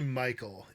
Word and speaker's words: Mical: It's actually Mical. Yeah, Michael, like the boy's name.